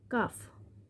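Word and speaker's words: calf: এল এল এর silent letter হিসেবে সি এ এল এফ কাফ কাফ মানে বাছুর গরু বাছুর সে বাছুর টি এল কে টক।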